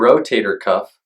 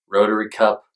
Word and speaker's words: rotator cuff: tell if you have a tear so your rotator cuff also called rotary cup rotor cuff rotator Cup and all sorts of other ways